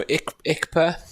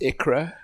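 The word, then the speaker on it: Икра: But yes, no, Ikpa. It should be pronounced Ikra. Ikra translates to caviar, apparently.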